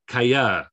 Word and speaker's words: callar: Okay, callar. Okay, this is an instance of that double double L, ella, sounds like a Y. Callar. And we've also got the stress on the final syllable.